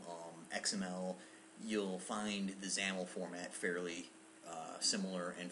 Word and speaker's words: XAML: zaml file xaml um xaml is a Microsoft uh file format it's uh pronounced zaml um it's it's a